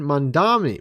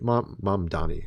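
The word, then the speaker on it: Mamdani: And then you have a minister, a Christian minister calling a president a demon and praises Zoran Mandami Mandani.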